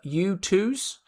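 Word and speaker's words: Youtooz: There's a website called uh U2s, which is spelled uh Y O U T O O Z.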